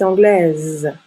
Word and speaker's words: anglaise: masculin et le féminin on ajoute un e au féminin et on prononce la dernière consonne donc il est anglais le s est une lettre muette il est anglais angis elle est anglaise on prononce le S